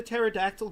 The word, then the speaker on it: pterodactyl: Why couldn't you hear the pterodactyl go to the bathroom? Well, because the P is silent.